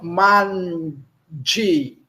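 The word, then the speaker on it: manĝi: Mande. O G com chapéu é DJ. Então, mande, certo? Não nasalizamos.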